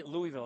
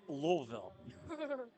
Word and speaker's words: Louisville: You don't say Louisville, it's Louisville. They give you a hard time if you say Louisville.